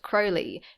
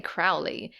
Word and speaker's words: Crowley: even said to people it's pronounced Crowley to remind you that I'm holy but my enemies say Crowley in wish to treat